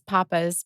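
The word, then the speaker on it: Pappas: really nice steakhouse called Papa Brothers okay um on West timer Papas or Papas it's well everyone says Papas but it's it's a Greek name Pap yeah that's how the family pronounces it okay it's Greek whatever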